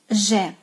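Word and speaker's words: Ж: Next sound we don't have in the English language, and it's strictly Russian, so be attentive to how to pronounce it. Zh, zh, zh, zh.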